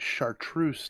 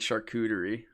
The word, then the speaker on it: chartreuse: but uh so the variation um they they pronounce it chartreuse now tonight yeah we were calling it charcuterie i was like i know what that is